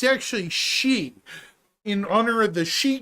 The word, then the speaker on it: Xi: Well, it's funny your name is Chai, because my in-game name is pronounced Zai by me, but it's actually She, in honor of the She Gundam from Mobile Suit Gundam Hathaway.